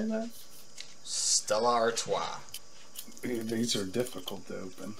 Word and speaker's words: Stella Artois: Stella Artois.